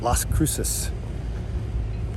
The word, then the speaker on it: Las Cruces: GPS finally told me how to say it Las Cruces I asked my mom like six times how do you pronounce it and she knew it would just